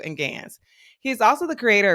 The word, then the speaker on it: GANs: technologies such as GPT-3, Codex, DALL-E 2, and GANs. I said GANs totally wrong. Let me say it again. Codex, DALL-E 2, and GANs.